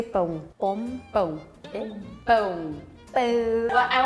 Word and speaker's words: pão: In Brazil, we say pão.